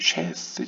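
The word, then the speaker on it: שת: 우리가 한국어 성경에 셋이라고 표현되지만 히브리어는 히브리어로는 이제 쉐스 쉐스 그 쉐의 앞 글자인 신을 담고 있고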